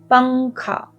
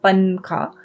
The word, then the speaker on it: pankha: Pankha. The N sound is very, it's a very nasal, faint sound, right? It's not a n sound. It's not pankha. It's pankha.